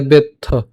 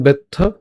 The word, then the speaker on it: বেত্থ: নতুয়ং বেত্থ, এখানে যুক্ত বর্ণটার মধ্যে আছে ত যুক্ত থ, তাহলে প্রথমে আমরা ত এর সাথে উচ্চারণ করলাম, বাকিটা থাকবে হচ্ছে থ, তাহলে বেত্থ, এরপর পরন্তপ, পরন্তপ, ঠিক আছে।